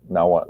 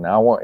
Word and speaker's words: Nahuatl: Like the X in Nahuatl is pronounced as sh.